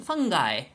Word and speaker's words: fungi: fungi how do you how do you pronounce that I what's happening to my mind right now it's fun fun fun fun guy yeah fungi so they're like maybe